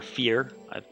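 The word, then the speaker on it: Fyer: or Fear. is how I pronounce it. F-Y-E-R.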